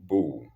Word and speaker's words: Bough: Golden Bow. Golden Bow. In case I don't call it well, bow is spelled Bough.